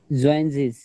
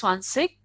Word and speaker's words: zwanzig: Zwanzig. Okay, Vamshi, what is 20? Swansig. Swansish. Okay. So some people will might say it's Swansig. That is a difference of the regions only.